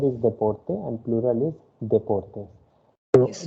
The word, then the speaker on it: deportes: Okay, singular is deporte and plural is deportes. So Yes. D is not pronounced as the, D is pronounced as the.